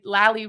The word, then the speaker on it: Lally: And here's one where we just did Lally rhymes with Sally.